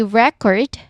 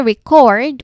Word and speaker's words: record: But if I say record with a stress on the second syllable, it becomes a verb. Like, I'm going to record a video.